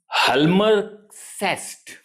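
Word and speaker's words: Hjalmar Schacht: इनका एक economic adviser था जिसका नाम है हलमर सेस्ट देखिए यह हेलमर सेस्ट इज़ the pronunciation but the spelling of this is एच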